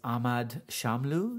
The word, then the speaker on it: Ahmad Shamlu: going into another poem now and this is ahmad shamlu is that okay pronunciation absolutely well done cool i had a